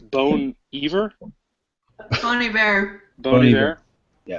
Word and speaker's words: Bon Iver: It's not Bon Iver. It's Bone Iver.